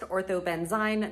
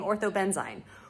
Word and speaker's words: ortho-benzyne: before publishing this video, I learned that it's pronounced ortho-benzyne, not ortho-benzyne, which makes sense because they're spelled differently. So when I say that again in another minute in the video, just pretend I'm saying ortho-benzyne.